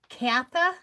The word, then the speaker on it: Kantha: So it's Kantha? Kantha quilt? I didn't know that, Barbara. That's interesting. The N in the word Kantha, C-A-N-T-H-A, is silent when you pronounce it.